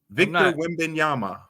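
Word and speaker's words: Wembanyama: Victor Wimbeyama.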